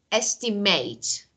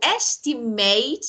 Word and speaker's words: estimate: Like, for example, for the words end in ate, ate. If it's a verb, okay, you should pronounce it as ate, estimate. But if it's noun or adjective, you should pronounce ate as at, like chocolate.